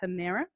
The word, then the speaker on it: Hemera: So we are pronounced Hemera.